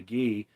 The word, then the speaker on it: Guy: Twitter it's spelled uh it's like guy but it's pronounced ghee in French he's French Canadian and